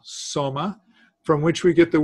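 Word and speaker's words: σῶμα: instance the body itself is soma it's an Omega long O soma from which we get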